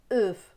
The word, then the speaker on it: œuf: Ce mot-là, dans certaines régions, il va être prononcé euf. Vous voyez, avec un E bien fermé.